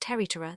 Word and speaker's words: Tiri Terra: of Rui, but is known as Tiri Terra, pronounced Teritera, that being Ori's Christian name.